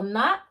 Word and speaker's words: 낮: 낮보다, so not N-A-J. It's pronounced as not as in a T because there's a verb coming right after. There's a consonant coming right after it, so it's 낮보다, but